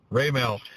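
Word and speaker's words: Raimel: How do you pronounce his first name? Raymel.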